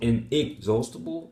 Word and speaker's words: inexhaustible: that correct is it inexhaustible no the stress is still on inexhaustible so um this is incorrect here because the primary stress is on the second syllable inexhaustible so that's incorrect three